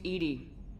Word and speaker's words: EDI: airlock is a jar why are you named Edy Ed is the phonetic pronunciation of Eed that is an acronym for